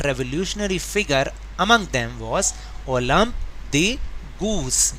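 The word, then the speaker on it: Olympe de Gouges: वन ऑफ the most important revolutionary figure among them was ओलम्प the goose. ये क्या लिखा है? ओलम्प the goose. इसकी pronunciation अच्छे से याद करें क्योंकि ये फ्रेंच नेम है।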